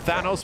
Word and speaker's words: Thanos: we don't stop him he's also mispronouncing thanos's name because Thanos was not really in a lot of up until this point so there was people at Capcom were pronouncing at Thanos like the old ways anyway long story short now it's just different now every knows it's Thanos because Thanos is Thanos but anyway weird issues